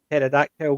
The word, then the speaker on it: pterodactyl: you never hear a pterodactyl going through the loo because the p is silent yeah i would do